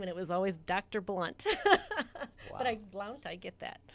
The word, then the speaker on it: Blount: It's Blunt. B-L-U-N-T. BLOUNT. Yep. But it's not pronounced Blount.